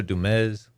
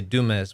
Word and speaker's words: Dumez: the noted desperado pancho dumez a lot of people say dumas but you gotta say it like ricardo montalban with a z yes yeah the noted